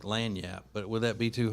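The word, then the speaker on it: lagniappe: hard for people yeah why would it be hard to pronounce lanyap she spelled like she spelled it the way it normally is and then she put the only reason why I knew how to say it was because she put in parentheses l-a-n-y-a-p so that's the same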